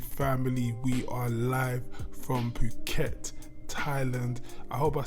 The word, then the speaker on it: Phuket: your YouTube family we are live from Phuket Thailand I hope I said that right Phuket Phuket I don't even want to say what